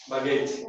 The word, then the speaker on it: baggage: How do you pronounce it? Baggage. Baggage नहीं जी. Okay. Gauge नहीं बोला, baggage. ये जो word है आखिर में AGE, अनसर पढ़ाए थे हमारे कि यूजुअली AGE जो है हमेशा इज बोलना, क्या बोलना अपन?